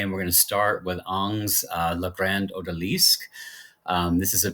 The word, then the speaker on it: Ingres: how to say it in grace is not correct on is what we've been taught to say so Jean Auguste Dominique